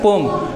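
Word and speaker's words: poem: नाम है पोयम पढ़ेंगे क्या बोलते हैं पोम क्या बोलते हैं पोयम नहीं बोलते बोलते हैं पोम डिस्क्रिमिनेशन स्पेलिंग है डी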